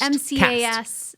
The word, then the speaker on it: MCAS: And most people aren't testing for MCAS. How do you say it? Cast. MCAS. So MCAS. Yeah. Oh, not a T at the end.